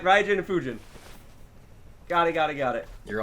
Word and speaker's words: Fujin: right fuji food is the green one pujin fujin yeah he said rai was the other one